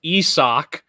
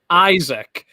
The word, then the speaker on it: Isaac: this with isak paredes that his name is pronounced esoc and not isaac so pretty much up until this point i